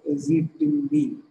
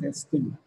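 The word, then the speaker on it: ezetimibe: It is not pronounced as Ezitimb, but it is, the spelling is Ezitimb, but it is pronounced as Estim.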